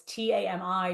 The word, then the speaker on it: Tami: Yes, So Tammy for Miami. So it's Tami, just spelled like Miami.